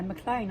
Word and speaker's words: Maclean: No, yeah, Maclean, I said it right.